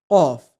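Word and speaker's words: قاف: And to pronounce it, you'll have to use the lowermost part of your tongue and touch it to the upper palate and say qaf with an O sound.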